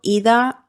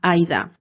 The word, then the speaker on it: Ida: aquí fuera del caso he estado diciendo ida López para referirme a detective pero se pronuncia Aida haced ver que he dicho Aida López vale son muchos nombres